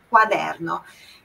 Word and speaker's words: quaderno: Quando a gente tem o que no italiano, o U tem que ser pronunciado. Então, é quaderno.